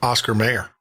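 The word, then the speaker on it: Oscar Mayer: Well, to me it was always Oscar Meyer. I remember singing a song a lot of people but it's Oscar Mayor Bernstein Bear. Bernstein Bear there. What it is is that No, it's pronunciation. Well, no, it's spelling. Look at the spelling of the Oscar. They Oscar If you go to Oscar, it's Oscar Mayor and they they swear to God it's always been Oscar Mayor.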